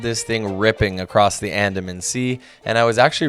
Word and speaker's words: Andaman: Yes, I had to look up how to pronounce that. Andaman.